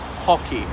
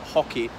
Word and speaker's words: Haughey: So Lord Ballyedmond, his surname was actually Hockey, H-A-U-G-H-E-Y. And now in Ireland, we usually pronounce it Hockey, but apparently his family pronounced it Hockey, like the sport.